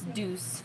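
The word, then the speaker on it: Doucce: at so far okay a lot of people don't know how to pronounce this D Oh ucce I had to look it up google tells you it's deuce deuce is okay Heather are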